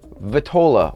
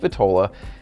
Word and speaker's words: vitola: them means so phrase our word number one vitola or vitala depending on how you hear it pronounced typically it's pronounced vitola and vatola simply means the size and shape